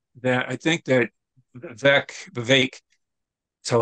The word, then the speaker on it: Vivek: I think that VEC Vivek so it's pronounced apparently that it rhymes with cake is how I yes